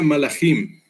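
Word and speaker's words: מלאכים: Además, en el término hebreo, que aparece aquí abajo, escrito todo bonito así, se pronuncia malachim.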